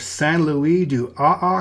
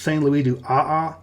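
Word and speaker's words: Saint-Louis-du-Ha! Ha!: Now in French, the H of the ha-ha would not really be pronounced, so it would be Saint Louis du AA, sort of.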